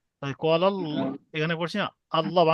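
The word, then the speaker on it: الله: ডানদিকে ডানদিকে পেশ এসছে পেশ এলে মুখ গোল করে পুর করে ল উচ্চারণ হবে শুধু এই বলবেন গোল পড়তে উচান এটা আমরা জানি সকলে তাহলে শুধু এই বলবেন আল্লাহ শব্দের ডানদিকে পেশ এসছে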